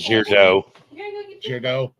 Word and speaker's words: Gaudreau: I don't know how you pronounce it. Gaudreau.